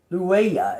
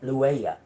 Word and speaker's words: Loua: Loua is what how you say it. Loua.